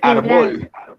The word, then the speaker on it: árbol: Usted no dice Y es árbol, ¿sí? Usted no dice árbol, sino dice árbol, ¿sí?